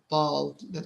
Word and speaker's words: bald: bald. خلينا نعيد نكتبها. So belt اللي هو اتفقنا السبتة أو الحزام belt, and bald هو ينطق فيها كأو بس تكتب بالA.